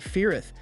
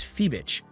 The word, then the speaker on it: Ferrith: He pretends that he's excited to meet Ferrith, but he intentionally mispronounces his name as Phoebich.